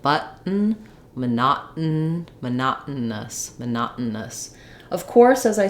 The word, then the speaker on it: monotonous: these sounds um but it's kind of helpful to think of it as the middle syllable being just the the N sound so monot with the stop T monot monotonous um and finally at